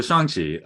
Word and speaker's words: Shang-Chi: days so anyway so shangji um there's no true rhyme with that first song but except i would